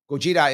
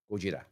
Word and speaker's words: Gojira: Gojira is how they say it in Japanese, by the way. Gojira.